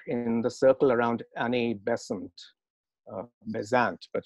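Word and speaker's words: Besant: the circle around annie bessent uh byzant but she insisted that her surname be pronounced present and when krishnamurti then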